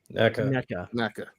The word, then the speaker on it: NECA: He's saying, meanwhile, NECA, is it Nika or NECA? NECA. I'm trying to teach myself to say it right.